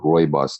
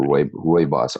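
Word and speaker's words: rooibos: that you do uh Roy boss tea which is sou African red tea and is commonly known as red tea or Roy Roy boss r o o i b oos is how you spell it and you can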